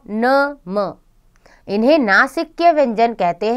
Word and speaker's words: नमः: प्रयोग कर रहे हैं विसर्ग इसका उच्चारण ह की तरह होता है इसका चिन्ह दो बिंदियां के रूप में लिखा जाता है जो वर्ण के बाद लगाई जाती है जैसे अतः प्रातः नमः आदि हिंदी भाषा में